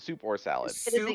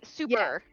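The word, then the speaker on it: Souper: to the super salad is it a super salad or is it soup or Salad super super but it's spelled s o u p e r salad awesome uh and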